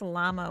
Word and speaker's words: llama: Still not sure if I'm pronouncing llama and paella correctly, though. Yeah, I pronounce llama with a L and paella with a Y. Depends on which country.